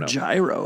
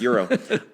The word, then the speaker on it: gyro: What this has to do with season for or gyro if you don't know how to pronounce it. Nope. It's euro.